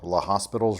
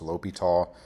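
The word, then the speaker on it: L'Hôpital: And I know it's spelled La Hospital's rule, but it's a French guy's name, so it's pronounced Li Tall.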